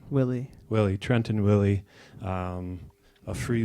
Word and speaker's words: Willey: trenton how do you say your last name Willy Willy trenton Willy a free wheelin no holds